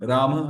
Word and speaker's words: Rama: So ideally it is Rama ending with Ram but generally we tend to skip the pronunciation of the last we we'll say Ram and not Rama mostly the Indian devotees